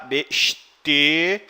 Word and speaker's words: besteht: no passado perfeita bestest veja só a pronúncia né se tiver só que vai travar a sua língua no começo só b mais ou menos assim a pronúncia dele b o s costuma ter um som de ch a com o tema é um e tá besteht besteht te aqui no caso